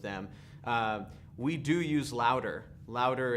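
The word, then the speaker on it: Loudr: But are you familiar with Louder at all?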